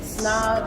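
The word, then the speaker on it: Psnob: Everything's under my brand name Snob. It's spelled P-S-N-O-B. The P is silent.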